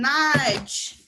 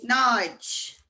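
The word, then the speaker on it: náid: Nudge. N-A-F-A-D-A-I-D. Nudge. That's zero. N-A-I-D. Nudge. And if you're counting, it's a nudge.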